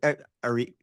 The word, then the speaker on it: Arik: Thanks so much, Eric. Arik, Arik. I've been Arik, pro- I've been pronouncing your name so wrong.